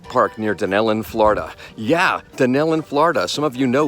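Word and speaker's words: Dunnellon: It's spelled different, but it's spelled different, but it's spelled different, but it's pronounced the same way, if I can pronounce anything at all.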